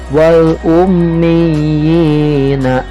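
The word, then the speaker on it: الأميين: Kemudian sama tuh contoh yang keempat juga, wal ummiyina. Nah ya, itu sama, ada huruf ya bertasydid berkasroh, harokat kasroh bertemu dengan huruf iya sukun atau iya mati. Tadi sama, dibacanya akan ditekan. Nah, kemudian yang kelima ada lafaz, ada kalimat illina.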